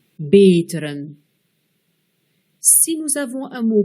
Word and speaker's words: beteren: E muet, begrijpen, E bref, belkrediet, E long, beteren.